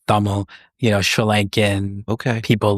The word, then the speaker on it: Tamil: Um you had a diverse group, but that's where I was like, oh there's no other, you know, Tamil or pronounced thumbl, you know, Sri Lankan people like me.